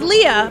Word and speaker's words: Leia: My name is Leah, but it's spelled like Princess Leia.